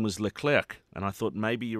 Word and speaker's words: Leclerc: But there's someone called Leclerc in there, and by the way, it has to be pronounced Leclerc and not the k at the end. Leclerc.